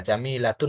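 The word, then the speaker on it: جميلة: আমরা জানি যে শেষে গোলতা থাকলে যদি সেখানে ওয়াকফ করি তখন সে গোলতাটা হা হিসাবে উচ্চারণ হয়, মানে তাটা আর উচ্চারণ হয় না, ওটা হা হয়।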